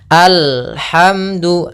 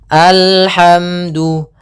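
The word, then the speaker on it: الحمد: di dalam membaca alhamdulillah Yang pertama yaitu dia manantulkan huruf lam lam memantul memantul Ah ini salah Apabila ada huruf lam mantul maka dia salah contoh memantul Bagaimana Alhamdulillah Ini mantul atau Al alham alham ya atau misalnya sakta alhamdu Ah ini salah juga harusnya dia mengalir suara lamnya alhamdu Alhamdulillahi kemudian bilamin pada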